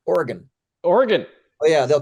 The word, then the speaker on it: Oregon: Canadian it's actually pronounced Oregon Oregon oh yeah they'll correct you down there they know you're from out of state if you say Oregon there's no e on the end right so it's Oregon